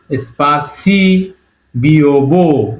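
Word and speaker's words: спасибо: Word সেটা হল এ পে সপ এস সি স্পাসি বিব সপাসিবো কিন্তু একচুি এখানে আমরা উচ্চারণ করব সপাসিবা ওটাকে আসবে উচ্চারণ করতে হবে।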